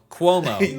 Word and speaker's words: Cuomo: New York Governor Andrew, and I've just been informed by James that it's pronounced. How did you say it? Cuomo? It's Cuomo.